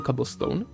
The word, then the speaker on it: cobblestone: to jak já říkám cobblestone já říkám něco mezi áčkem a óčkem protože ono se to tak vyslovuje cobblestone ale když to občas